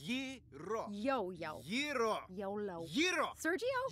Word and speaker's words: gyro: Yeah, but in New York, we call them gyros. It's Greek. Now, I got in a fight with our committees about this. He said it's... Yiro.